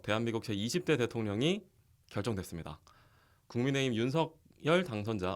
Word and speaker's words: 윤석열: 국민의힘 윤석열 당선자 어떻게 발음하신다고 했죠? 윤석열? 윤석열이 맞죠. 네, 그게 네. 표준법에 맞다고 하더라고요.